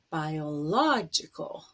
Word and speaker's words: biological: the first o but in the adjective it's biological so now the stress has moved to a different syllable economic or economical in